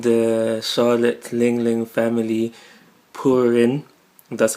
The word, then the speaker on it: Purin: So the wedding of the century has been announced between the 35th daughter of the Charlotte Ling Ling family, Purin, that's how you pronounce it, who is said to supposedly be